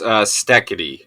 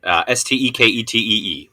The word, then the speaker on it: Steketee: It is pronounced Steketee, Steketee, Steve Steketee.